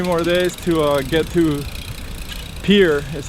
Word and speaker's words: Pierre: We got 3 more days to get to Pierre, is how people pronounce it.